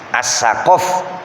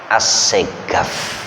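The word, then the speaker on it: السقاف: Qaf itu dibaca ga. As-saqaf bacanya as-segaf. Wong Yaman. As-saqaf as-segaf.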